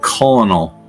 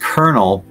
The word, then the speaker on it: colonel: mean why isn't there it's pronounced kernel so why isn't there an r in there who's the who's the genius that said we're gonna call it kernel but we're not going to put an r in the word just